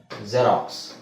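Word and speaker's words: Xerox: ಗೊತ್ತಿರೋದು ಎಲ್ಲರಿಗೂ ಗೊತ್ತಿರುವ ಪದ ಜೆರಾಕ್ಸ್ ಜೆರಾಕ್ಸ್ ಅಲ್ವಾ ಜೆರಾಕ್ಸ್ ಅದನ್ನ ನಾವು zಡ ಉಚ್ಚಾರಣೆ ಉಚ್ಚಾರಣೆ zಡ ಅಂತ ಹೇಳಬೇಕು ಬರಿಬೇಕಾದ್ರೆ x ಅಂತನೆ ಬರಬೇಕು ಪದದ ಸ್ಟಾರ್ಟಿಂಗ್ ಅಲ್ಲಿ ಬಂದ್ರೆ ಅಂತ ಹೇಳ್ತಾ ಇದೀನಿ ಆದರೆ ತಲೆ ಕೆಡಿಸಕೊಬೇಡಿ ಜಾಸ್ತಿ ವರ್ಡ್ಸ್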